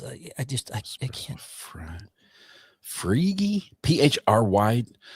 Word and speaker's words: Phryge: Phryge, PHRY. They went with a Y for an E sound.